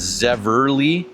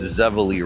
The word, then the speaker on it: Zevely: So, that's where the name Zavala comes from and it's commonly mispronounced as Zeverly. There is no R. It's Zavala Rapids.